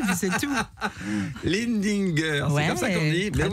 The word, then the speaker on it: Lindinger: Non, vous allez apprendre à le prononcer, puis c'est tout. Lindinger, ouais, c'est comme ça qu'on dit.